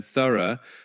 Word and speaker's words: thorough: And then thorough, despite having that ug ending, sounds a bit like thorough.